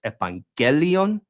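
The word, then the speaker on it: εὐαγγέλιον: that, oh, okay, like evangelion isn't even a word. It's evangelia. It's a different word, right? That has a different stress. Evangelion with the stress on the gel, and evangelia with the stress on the ia.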